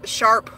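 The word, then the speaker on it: Sharpe: So, and what's funny is growing up, because there was an E on the end of Sharp, everybody would mispronounce it and say Sharpie, and I'm like, I'm not a fucking marker, all right?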